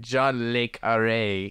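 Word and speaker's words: John le Carré: a bridged version of John L car's Infamous novel that's why you say his name I don't know John L Car how do you say it John leare is how leare okay I thought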